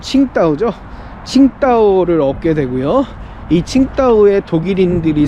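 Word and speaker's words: 青岛: 싶어하는 거죠 그래서 중국 산동반도의 청도 중국식 발음으로는 칭따오 칭따오를 얻게 되고요이 칭따오의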